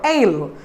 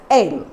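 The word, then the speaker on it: aisle: often wrongly pronounced as easel seats. Okay, this is here is silent. The spelling of this is A-I-S-L-E, but S is completely silent here. So we pronounce this word as ale.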